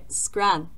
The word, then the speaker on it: scran: Another noun here I've got is scran. This is one of my favorite Scottish words ever. I don't know why, it's just fun to say and you can like roll your R like scran, scran.